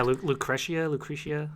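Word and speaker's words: Lucrecia: Is that how it's pronounced? Yeah, Lucretia.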